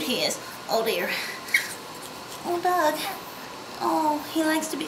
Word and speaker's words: Dug: You're a Doug. You're a Doug. It's spelled D-U-G, like pug.